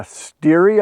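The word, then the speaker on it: stere: is sold by the steery i believe it's s-t-e-r-e so steer or steery correct me if i'm wrong on the pronunciation but it's either steer or steering and that is one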